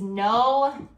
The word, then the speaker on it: know: with KN, but again, you don't say the K, we just say N. So the first one that I think of is know, like I know something.